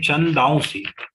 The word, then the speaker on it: छंदांसि: नहीं, छंदांसि. छंदांसि यस्य पर्णानि.